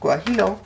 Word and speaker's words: guajillo: mexico chili peppers on there and if i pronounce it properly guajillo chilis these apparently are the closest to the